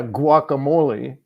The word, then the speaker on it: guacamole: applies uh no yeah guacamole the the it's u a it's not UI so it depends on the vowel after the U whether you pronounce the hard consonant in front or you pronounce the U or not and if you listen